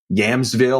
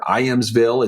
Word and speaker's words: Ijamsville: And I don't even know how you pronounce this city, Yamsville or Iamsville. It's Ijamsville, but it's in the